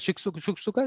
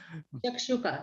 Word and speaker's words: shakshuka: Shuksuka? What is that? How do you pronounce it? Shakshuka, yeah, it's an egg with like tomato sauce.